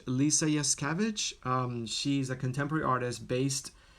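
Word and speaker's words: Lisa Yuskavage: Her name, how to pronounce her name? Her name is Lisa Yaskavich. Lisa Yaskavich.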